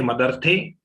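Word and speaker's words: मदर्थे: And when we say Madarthe, we have to stretch it, then the next agat of ta will come.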